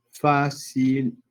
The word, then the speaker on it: fácilmente: Entonces vemos que acá la sílaba tónica tiene, la palabra fácilmente tiene 2 sílabas tónicas, tiene doble acentuación.